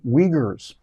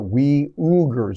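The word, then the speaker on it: Uyghurs: rights abuses with the Wagers and that's that's how it's pronounced by the way the we ugers I think is the way they pronounce it over there uh but weers you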